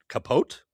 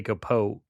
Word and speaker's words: Capote: If you go online and say Capote, you're saying it wrong because it's Truman Capote.